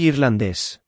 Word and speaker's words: irlandés: There is an accent on irlandés, so the stress is where the accent is, and on the second to last syllable of irlandesa, where there's no accent.